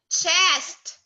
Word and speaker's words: chest: Check. Chest. Pronounce letter S.